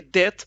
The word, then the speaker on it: det: I mean, it's like natural that you will swallow T. So you don't need to care about it. And also, if you say det, it's not a wrong pronunciation. So don't worry about T.